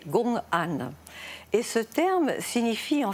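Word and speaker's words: gong'an: Alors, le COAN, on a gardé ce mot, mais c'est la prononciation japonaise d'un terme chinois qui est Gongan.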